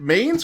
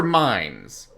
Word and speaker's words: Mains: Is it mains or mines? No, it's Mains. I've only said mine. I've heard Key pronounce it as mines. That was my mistake.